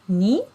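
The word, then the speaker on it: 二: so you can see when we use the same character we pronounce it ni yeah but when we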